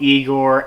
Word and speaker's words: Igor: would have I love Igor as the monster their little exchange in the beginning when he's talking about how his name is Frederick Frankenstein and he goes like it's pronounced I Gor I love that exchange